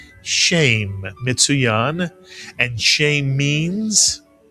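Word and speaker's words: שם: You'll very often hear this word read as shem rather than shame. But shame or shem, it means name. And how about these two words together? Shame to or shemtove means a good name.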